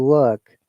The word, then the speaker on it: work: Now this sound, look, and in British accent, we do not pronounce R. Okay, and if you remember, that is the reality. We say work, long sound, but American will say work.